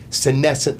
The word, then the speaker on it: senescent: So guys, I really need to understand this senescent cell.